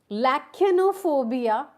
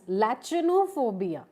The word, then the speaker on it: lachanophobia: Fear of vegetables, you can pronounce it in two ways. Fear of vegetables is called as lachanophobia. It can also be pronounced as lachanophobia. Lachanophobia or lachanophobia.